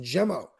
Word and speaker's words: Gemo: Gemo, they always call him Gmo. He gets mad every time. Yeah, it's Gemo. He has no problems correcting someone too. Gemo. I love Gemo. It's pronounced Gemo.